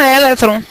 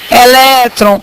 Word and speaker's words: elétron: eu pronuncio essa palavra Alguns falam eletron se fosse eletron deveria ter acento mas a palavra é elétron eu tenho uma paroxítona